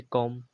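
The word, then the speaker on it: comb: बोला गया है ऐसे कॉम सी ओ एम बी कॉम्ब में बी साइलेंट है ऐसे ही थंब में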